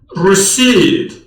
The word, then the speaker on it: receipt: کلمه تلفظ می شود receipt حرف P هست اما تلفظ ندارد.